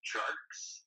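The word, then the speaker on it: Tjarks: Am I pronouncing his name right? Yeah, I think it's Tarks.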